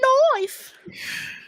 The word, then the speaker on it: knife: is ended by the knife yeah that was a good awakening that day well you don't have to pronounce the k i said so why didn't they just write knife nife as a kid i'm